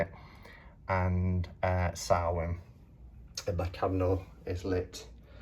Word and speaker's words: Samhain: maybon depends how you say it and uh sarwin the my candle is lit in the middle